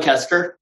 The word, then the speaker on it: Koester: It's Koester, the O Koester. Side.